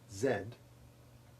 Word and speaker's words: zed: letter in the alphabet zed whose name rhymes with red in english not with fee as in american usage is one of